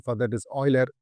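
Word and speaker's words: Euler: the word Oiler as uler but I think the perfect pronunciation for that is Oiler you need to pronounce it as o i l e r whereas when you write it you have to write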